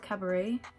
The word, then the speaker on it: cabaret: shade honestly it's called cabaret you don't pronounce the T and then lightly